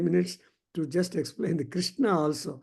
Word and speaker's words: Krishna: many people but then if you see there are two shakas so sha from the front and then sha from the back so this is and